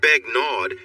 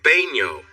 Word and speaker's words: Begnaud: It's not Begnaud, it's pronounced Baigno. The D? It's silent.